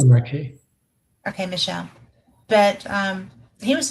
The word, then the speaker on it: Desmarquet: Michael Desmarquet. Is that French Michel yes? Demarquet.